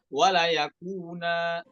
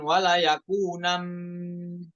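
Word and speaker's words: ولا يكونا: Ya, boleh ya, boleh dibaca dibacanya wala yakuna ya. Fi'il muakkad binun taukid ya. Bukan dibacanya bukan wala yakunam ketika waqaf, bukan, namun wala yakuna ya, seperti itu ketika ikhtibari. Ya bukan wala yakunam karena nunnya di situ tanwin, kemudian setelahnya ada mim,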